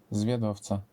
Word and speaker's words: Zwiadowca: Zwiadowca.